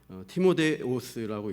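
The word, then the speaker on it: Τιμόθεος: 이 본문 1절에 나오는 이름을 원어 발음, 헬라 발음으로 읽으면 파울로스, 실루아노스, 티모데오스라고 있습니다.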